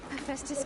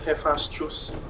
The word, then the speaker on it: Hephaestus: Aloy, Hephaestus can't escape, but it must have fled.